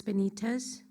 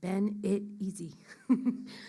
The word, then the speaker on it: Benitez: My name is Benitez, B for boy, E-N-I-T-E-Z. I spell it like Ben-It-Easy.